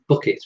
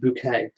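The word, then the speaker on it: Bucket: TV character um called hn booket pronounced bouquet and she's one of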